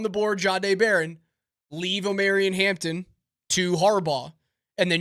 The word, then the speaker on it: Omarion: Yeah, so see, I look at it as Omarion. Not Omarion.